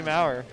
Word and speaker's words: Mauer: I'm so used to saying Tickle Me more because he never corrected me. It is, yeah, it's pronounced Tickle Me Mauer.